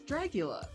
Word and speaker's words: Dragula: It's dragula. Dragula. Drag. Drag. Dragula.